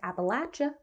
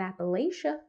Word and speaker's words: Appalachia: record I'm from this region and it is pronounced Appalachia not Appalachia just so everyone knows that's how the locals